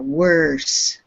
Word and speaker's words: worse: Get an R in there. Worse.